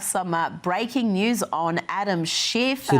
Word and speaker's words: Schiff: breaking news on Adam Schiff. See, the way she says Schiff, it really does sound like you know what. So I kind of like the Australian pronunciation of Schiff. It's very good.